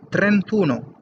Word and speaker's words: trentuno: a venture no like 31 is pronounced as a trentuno because it's trenta it's n by a so it's a vocal and uno started you so trentuno we remove this and we say trentuno so from there we